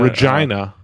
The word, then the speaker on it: Regina: potash what was it Regina Regina rhyme rhymes on rhymes with fun yep that was the